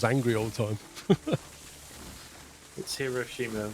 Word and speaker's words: Hiroshima: angry all the time Hiroshima with emphasis on the second syllable second syllable he